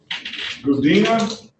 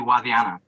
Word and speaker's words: Wadiana: Gudina, Yes, Your Honor. did I get the pronunciation of that right? It's actually Wadiana, kind of like with the W.